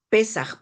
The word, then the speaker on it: Pesaj: Pesaj. Puedes pronunciarlo.